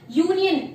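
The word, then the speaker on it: union: Start हो रहा है, बट इसको प्रोनाउंस हम क्या करते हैं, यू से स्टार्ट हो रहा है ना, यूनियन, और या हमारा व्यंजन के अंडर में आता है, तो यहां पर हम क्या लिखेंगे, ए।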